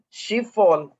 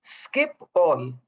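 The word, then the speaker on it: Schiphol: o l airport and i of course thought it was she fall but it's actually skip all which makes a sense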